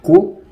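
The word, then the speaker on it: 九: Outro número que também costuma se evitar é o número 9, que pronuncia-se Ku e lembra muito o sofrimento.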